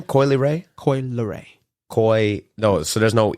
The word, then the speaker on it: Coi Leray: Coi Leray. No, so there's no E in it? Coi Lee? Whatever the fuck. It's okay. Leray. I just know that's how it's pronounced.